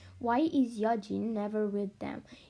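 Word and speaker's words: Yeojin: Do you pronounce her name Yojin or Yeonjin? Yeah, Yojin. Yojin. Okay. I'm pronouncing them in Korean, kind of.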